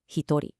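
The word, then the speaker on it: 一人: For one person, it's completely irregular, hitori.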